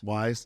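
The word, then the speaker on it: Weis: don't know if it's wise or whis Wise Wise yeah it's wise yeah my was like it's spelled whis though it is spelled whis but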